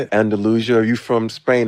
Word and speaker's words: Andalusia: Andalusia. You from Spain? It's Andalusia.